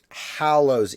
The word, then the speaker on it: Hallows: so Hallows Eve right I was pronouncing it like hollow like empty I said huh instead of how like so I was doing an H Oh L to start instead of an H al so the correct way